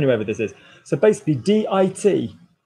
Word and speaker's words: dit: So basically, D-I-T, D. So we don't pronounce words in French, mostly, not all the time, pour la plupart, when there's not an E on the end.